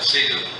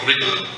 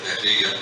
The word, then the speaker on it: Riegl: Lo tuve que buscar en el traductor, a ver cómo lo pronunciaba, que decía austríaco, a ver cómo lo pronuncian en alemán, y algo así como Riegel. Lois Riegel.